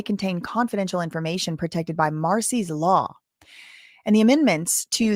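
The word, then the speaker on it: Marsy: It's called Marcy's law, but it's spelled kind of interesting. M A R S Y Marcy.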